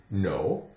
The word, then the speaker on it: know: So, keep in mind, the K is silent in words that begin with K-N.